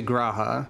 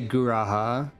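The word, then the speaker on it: G'raha: I'm not certain so the game is just going to say graha so I don't need to say guraha that is only true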